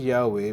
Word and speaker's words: Yahweh: You see, it's pronounced Yahweh, but it's written YHWH.